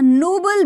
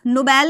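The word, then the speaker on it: noble: कर रहे हो अ नोबल बीस्ट नोबेल नहीं पढ़ेंगे नोबल पढ़ेंगे नोबेल पुरस्कार का अलग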